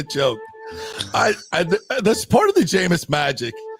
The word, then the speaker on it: Jameis: That's part of the Jameis magic. Is the people that still mispronounce his name. Like that, still think it's Jameson.